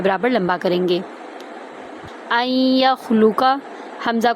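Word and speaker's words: أَنْ يَخْلُقَ: इसीलिए हम हमजा को या के अंदर दाखिल करेंगे ना कि नून में। ठीक है? अन या खुलूका नहीं पढ़ेंगे।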